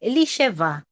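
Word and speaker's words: Elisheva: Eliseva. Ayan yung pronunciation.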